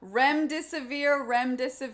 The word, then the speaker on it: Remdesivir: And then she said she screwed up her earlier entry, so her new entry is, I don't know how to pronounce this, Remdesivir, how lovely thy therapeutics.